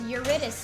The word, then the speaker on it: Eurydice: It's from Greek mythology, and Yeah. it's Eurydice. Oh my God. Only That's one seek Eurydice? jackpot. That's good. What is he? Eurydice, okay, do you know